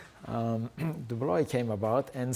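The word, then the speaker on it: de Broglie: came to the scene his name was dubloy pronunciation is many many speakers of english say broccoli but dubli dubloy came about and said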